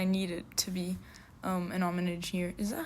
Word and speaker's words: homage: Okay, I searched it up and Google Translate's telling me it's homage, like pay an homage to.